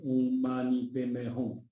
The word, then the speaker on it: Om Mani Padme Hum: But if you have to read it, how to say correctly, pronounce it correctly, Om Mani Padme Hum, then you will, how to say, your prayer will be heard by the Bodhisattva Avalokitesvara.